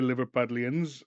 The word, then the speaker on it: Liverpudlians: Sorry, Liverpudlians, and yes, that's how you say it.